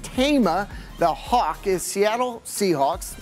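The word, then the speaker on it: Taima: It's pronounced Tama.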